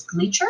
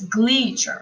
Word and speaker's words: Gleacher: my name is miss gleacher it would sound really weird if i said miss bleacher or mr what sounds most natural is miss gleacher so i know that glee is the emphasized syllable syllable um so practice